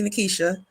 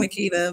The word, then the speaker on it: Nikisha: So most people mispronounce my name. It's actually Nikisha. It looks like Oh, Nikita, but it's actually Nikisha.